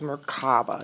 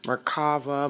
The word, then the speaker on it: merkaba: anyway the next is merkaba you have some people that will pronounce it merkava merkaba however you want to pronounce this we don't want